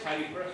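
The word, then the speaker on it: Happisburgh: Pronounce Haysborough, spelled Happysburg, on the North Norfolk coast.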